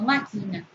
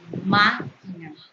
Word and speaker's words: máquina: Y lo correcto es decir que reparo, no reparo, reparo. La máquina, no máquina, sino la máquina.